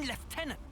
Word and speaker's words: lieutenant: You choose Noah over your own lieutenant. Again. They spelled it lieutenant and pronounced it left.